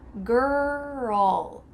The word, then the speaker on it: girl: In American English, we're gonna insert a U sound. This is called the schwa sound after the R. Girl. Do you hear ul there?